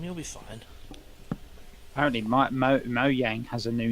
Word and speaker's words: Mojang: bit of botulism you'll be fine apparently my Mo Yang has a new name the student studio is now called Mo Yang Studios that's not a different name that's the